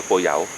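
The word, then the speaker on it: โกเยา: ผม อยู่ ที่ ร้าน โก เยา ครับ หรือ ออก เสียง ว่า โก เหย๋า อ่า ้ามัน โก เหย๋า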